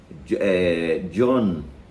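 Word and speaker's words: Jean: Aí eu explicaria dizendo o seguinte, que John, a pronúncia correta, ele é francês, né?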